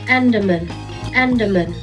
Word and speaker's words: Andaman: Yes, I had to look up how to pronounce that. Andaman.